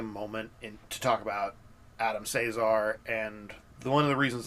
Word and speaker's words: Cesare: How do they pronounce it in the audiobook? Yeah. Caesar. Okay. Here's the thing. He has a YouTube channel. And he says his own name. Okay, then I'm going to trust that. Cesar.